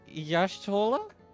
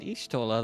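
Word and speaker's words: Y'shtola: Did she say Yashola? I've been pronouncing it ishola this whole time.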